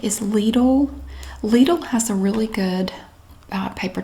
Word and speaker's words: Lidl: Lidl has a really good paper towel, and it is pronounced Lidl in the USA.